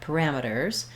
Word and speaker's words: parameters: So firstly, looking at parameters, we have second syllable stress, second syllable stress, so ram is stressed.